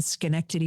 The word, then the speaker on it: Schenectady: about 45 minutes from Albany, north and between Schenectady and Saratoga. Okay. Those are good things to learn how to pronounce when you're young so you can go on to a broadcast career. You can pronounce Yes, Schenectady.